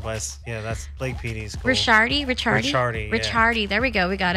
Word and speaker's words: Ricchiardi: My last name's Ricchiardi though, but that's Blake PD's cool. Ricchiardi.